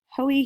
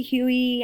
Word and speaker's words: Hoey: larger committee led by Senator Clyde Hoey Huey I've heard it pronounced two different ways so just kind of you know go with what you let you feel comfortable with from 1949 to